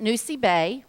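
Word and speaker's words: Nosy Be: They pronounce it Nosy Bay.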